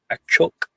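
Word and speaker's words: axolotl: So, did you know that um you know axelottle supposed to be pronounced a choke?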